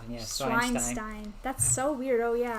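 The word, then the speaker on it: Zweinstein: Fubuki says Hogwarts is basically pronounced Swinestein. Yeah, Schweinstein.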